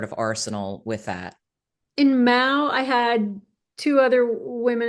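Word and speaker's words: Maow: Is it still pronounced meow or was it pronounced Mao or? We started as Meow, but then another band in New York had the name, so we had to change it to Mao.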